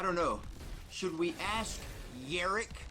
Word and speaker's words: Jarek: over to Rich's channel, Rich says Yarek, even though it's spelled with a J, then an A, then an R, then an E, then a K, and then there's a little dot and a fucking Z, okay?